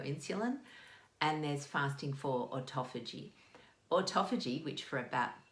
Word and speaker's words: autophagy: We can do, well, not two types, but there's fasting to lower your insulin, and there's fasting for autophagy. Autophagy, which for about 2 years I pronounced as autophagy.